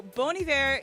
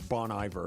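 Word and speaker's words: Bon Iver: Okay, so Bony Var is a I thought his name was Bon Ivor. Apparently I've been saying it wrong and a lot of people do.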